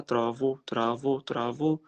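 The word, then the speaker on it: travaux: الجمع بتاعها ترافو. الاو يو اكس ما بتتنطقش، الا والاو والاكس ما بتتنطقش غير او.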